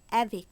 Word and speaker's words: avec: কোনো শব্দের শেষে থাকে, সিএফএল কনসোনেন্ট হওয়া সত্ত্বেও সেই ক্ষেত্রে এই শব্দগুলি সম্পূর্ণ উচ্চারণ হবে। যেমন AVEC, এখানে সি আছে কিন্তু শব্দটি সম্পূর্ণ উচ্চারণ হবে। অ্যাভেক, অ্যাভেক মিন্স সঙ্গে।